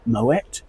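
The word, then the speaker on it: Moët: So just to run over the background of Moet Shandong as a company, it was founded in 1743 by a Dutchman called Claude Moet and his Dutch background is the reason you pronounce the T in Met Eandl.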